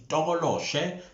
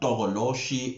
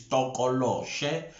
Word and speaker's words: Tokoloshe: I did also correct the pronunciation is Tokoloshe, not Tokoloshi or Tikoloshi. It's Tokoloshe.